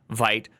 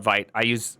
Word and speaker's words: Vite: Yes, I know it's pronounced Vite. I'm going to call it Vite.